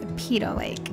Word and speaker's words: Peyto Lake: Okay, so the correct pronunciation is Peyto Lake.